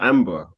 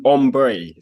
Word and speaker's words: Ambre: with an artist called Amber or Ambre? An artist? Yeah, she's a singer. Amber Ray, right? Or Ombre. So there's like an accent on the E.